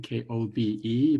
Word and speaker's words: Kobe: I am very proud of my hometown of Kobe, Japan, K-O-B-E, pronounced Kobe.